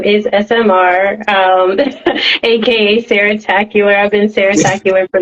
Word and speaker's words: Sarah Tacular: Okay, well, my stage name is SMR, aka Sarah Tacular.